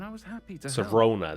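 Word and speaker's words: Sirona: Serona, that's how you pronounce her name.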